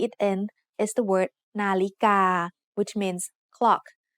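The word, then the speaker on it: นาฬิกา: The tones in the word nalika are midtone, high tone, and midtone. Nalika.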